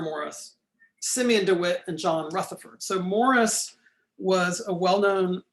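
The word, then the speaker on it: Rutherfurd: on your right there it's spelled f-u-r-d in the reading they misspell it f-o-r-d but it's john rutherford with two u's rutherford had been a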